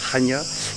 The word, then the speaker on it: Chania: En français on dit Lacanais, les Crétois disent Chania et ça s'écrit C-H-A-N-I-A pour les anglophones.